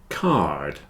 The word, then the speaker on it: card: War rhymes with poor card here is a greetings card it has a d on the end not like car card car there is